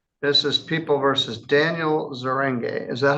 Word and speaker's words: Zeringue: This is People versus Daniel Zeringue. Is that how you say it? Zeringue.